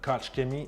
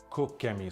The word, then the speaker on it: Koch Chemie: So apparently it's not Koch Chemie, it's Cook Chemie.